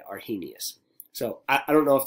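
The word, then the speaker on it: Arrhenius: name right here so I am confident that I mispronounced this name are he Gnaeus is the way that I was told to say are he Gnaeus so I don't know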